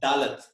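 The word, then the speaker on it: דלת: The English word D is the fourth letter of Hebrew, which is pronounced as Dalet.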